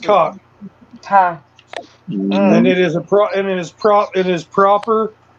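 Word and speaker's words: kok: And it is pronounced cock.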